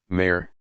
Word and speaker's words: mer: Mer, sea, is pronounced exactly like mere, mother.